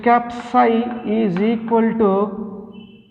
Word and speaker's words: psi: So psi is pronounced as a psi, it is a wave function.